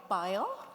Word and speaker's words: Bayer: it Bayer beay mention is it Bayer or buyer I think we we usually call it buyer buer at least in our office but both are fine both pronunciations are fine but Bon's no longer